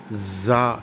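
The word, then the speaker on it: ز: அதற்கு அடுத்து புள்ளி வைத்தால் ராவிற்கு புள்ளி வைத்தால் ஜா என்று இரு பற்களையும் மேல் முன்பல் கீழ் முன்பல்லை ஒட்டி ஜா என்று கூற வேண்டும். ஆங்கிலத்திலே இசட் ஜீப்ரா என்று உச்சரிப்பது போன்று. சீன் சீன் என்று கூறும்போது அதேபோன்று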